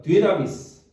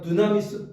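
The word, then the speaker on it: δύναμις: 있는 단어로 뭐라고 번역을 했냐면 어 한번 따라해봅시다 디나미스 자 디나미스 디나미스 미이 디나미스 뭐가 거기서 나오냐면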